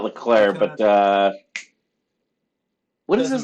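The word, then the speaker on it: Leclerc: Landon Norris yep Charles Leclair isn't it weird how they say his name yeah because it ends with a C yeah I always think they're saying Sean Leclair but Charles Leclair George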